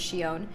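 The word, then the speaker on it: Xion: I Yeah, I think it's Shon. So, I feel like the way that they all said it was Shon.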